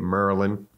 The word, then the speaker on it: Maryland: Upton Gym in Baltimore, Maryland, or Maryland. Say it like Baltimore people say it, Maryland.